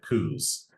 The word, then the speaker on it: coups: a concept called nonprofit coups. And when I say coups, that word is spelled COUPS, which is something that